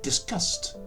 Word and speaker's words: disgust: So the gut sound changes to its unvoiced twin C, which does work well with the s sound to create a pronunciation that sounds like disgust.